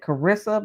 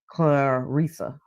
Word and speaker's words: Claressa: I was pronouncing it Cararissa, but I was reading something that it's actually pronounced Claresa. It's like like it's spelled and I be telling people that about my name. It's pronounced exactly how it's spelled, but it's Claresa is how her name is pronounced.